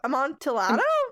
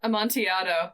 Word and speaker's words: amontillado: all kinds of stories including the cask of amantillato amontillado a montiado i was like i knew he was pronouncing timmy ells where a man is buried